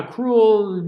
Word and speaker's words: cruel: there suppose even cruel now cruel you know that it almost sounds like a one syllable word and often it is set as a one syllable word but when we finna size and go ahead and put that schwa in there okay so that it's